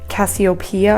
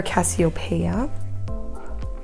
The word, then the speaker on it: Cassiopeia: choose between them so i did cassiopeia or cassiopeia there's two ways to pronounce it so i did this